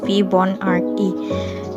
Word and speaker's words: Fibonacci: Leonardo of Pisa is now known as Fibonacci, pronounced Fibonacci, short for Filius Bonacci.